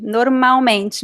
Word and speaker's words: normalmente: Muito bem, normalmente. Mariano, em português nós não pronunciamos o L, então ele soa como U.